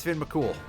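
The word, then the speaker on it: Fionn mac Cumhaill: Oh, hey, it's Finn McCool. That's literally how his name is pronounced. Irish is a little bit strange in terms of pronunciation.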